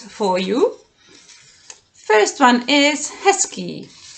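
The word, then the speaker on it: hezky: you first one is heskey heskey you may have already noticed that i am not saying hezuki i'm saying husky yes instead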